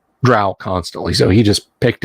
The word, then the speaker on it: drow: Jackson Dro which seeing drow it's Dro That's How Gary pronounced he told me he hated it when people call them drow they're not cows it's dro so I